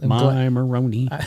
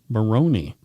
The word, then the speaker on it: Moroni: Moroni. I'm glad you asked. Rhymes with baloney? It's from the Comoros, which is near Madagascar. Oh, wow. Yeah. Moroni.